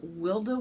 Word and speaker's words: Wilde: I go oh it's the way she pronounced it was wilda woman underscore crafts that's her